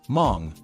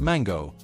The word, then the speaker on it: Mang: Say hello to Maxmillian Mang. Yes, that's pronounced Mong, not Mango, though I'm sure he's heard every fruit joke already.